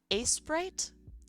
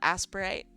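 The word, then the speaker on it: Aseprite: It's pronounced a sprite. Yeah. I always call it aspirate. I don't know why.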